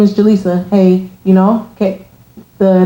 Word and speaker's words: Jalisa: say it wrong like I'll say Jalisa and they'll say Jalissa so it's just like